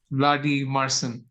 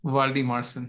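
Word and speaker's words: Valdimarsson: So maybe pick the Brentford backup, Vladi Marcin. That's how it's pronounced. Vladi Marcin.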